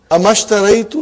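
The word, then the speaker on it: أما اشتريت: Anything comes before it, you will not pronounce the hamzatul wasal. So we have here ma. How will you say now? Mashtaraitu. Amashtaraitu laka daftaran fil usbu al maadi.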